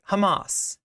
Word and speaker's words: Hamas: He said Hamas, and she was like, Hamas. It's called Hamas. Excuse me. Can you pronounce it correctly, please?